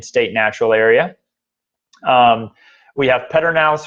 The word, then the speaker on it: Pedernales: Natural Area we have Pedernales falls or port and alice is actually the correct correct way to pronounce it that is a great